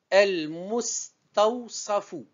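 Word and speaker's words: المستوصف: El-Mustawsafu. El-Mustawsafu. Donc, ce nom est composé de 5 syllabes. El, première syllabe. Mus, deuxième syllabe. Taou, troisième. Sa, quatrième. Fou, cinquième syllabe.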